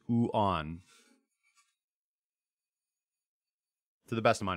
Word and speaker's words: yuan: It's not yuan. It's not wen. It's Chinese yuan.